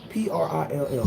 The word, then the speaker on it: Prill: She said you say it P-R-I-L-L, Pilge.